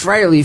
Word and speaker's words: Frey: always spell it wrong fre but it's fry freely admits that fry is the proper pronunciation it it is freyy yeah that's so odd